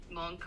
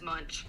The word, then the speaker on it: Munch: a pastel um and I know it's pronounced Edward monk but I've always known him as as much this but you know